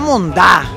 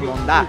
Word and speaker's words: mondá: con acento en la está la monda Exacto la mondá enséñanos una más una